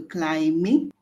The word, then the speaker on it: climbing: you pronounce c-l-i-m-b okay it is a silent b okay silent with meaning you don't pronounce the b so climbing and climber climbing and